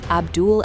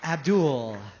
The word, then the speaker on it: Abdul: Habibi, if you can't say the name, don't say the name. Abdul. Abdul. We got to say it like that, man. It's creepy. Abdul. Holds on to the L a little too long.